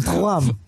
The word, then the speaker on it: Thuram: R-nya kan gitu kan, Thuram.